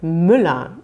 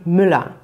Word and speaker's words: Müller: diese menschen nannte man müller was muss man bei der aussprache beachten die häufigsten fehler sind zum beispiel bei englischen muttersprachlern dass man dieses er am ende über betont also dass man sagt